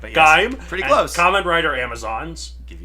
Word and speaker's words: Gaim: It's pronounced Gaim, but yes. Gaim.